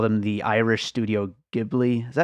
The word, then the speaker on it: Ghibli: People call them the Irish studio Ghibli. Is that how you pronounce it? Ghibli.